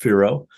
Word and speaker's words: FIRO: So our Forecast Informed Reservoir Operations, FIRO, pronounced FIRO, is a program we invented.